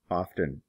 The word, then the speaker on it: often: Some people pronounce the T here, often.